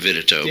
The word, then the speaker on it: Vidito: I'm the only one here that spells it Vidito, and I always say I spell it like they pronounce it, because they pronounce it Vidito, but they spell it Vitito, right?